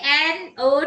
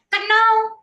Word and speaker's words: know: Nah, jadi jangan kow kening apa? Ken dengkul. Iya, dengkul itu bacanya ni. Oke. K ka terus belakangnya konsonan itu K-nya enggak dibaca. Eh, silent. Silent letter namanya.